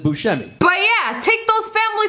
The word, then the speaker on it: Buscemi: I introduced you as Buscemi. Because of my extensive research, I learned that that's how you pronounce your last name. That's true. Even though everyone else in the entire world pronounces it Buscemi.